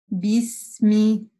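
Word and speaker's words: بسم: Четко вы должны услышать букву «б», без примеси то, что схоже на букву «п», да, русская, например. Нет, «би», «бисми», «бисми», «би».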